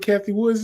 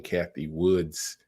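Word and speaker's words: Cathie Wood: say her name correct I'm saying Kathy Woods Kathy Wood make sure that's correct because I don't want to butcher people name people be adding s's on to it ah there we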